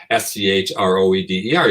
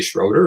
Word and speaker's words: Schroeder: like oh yeah okay it's between an o and an e yeah okay but because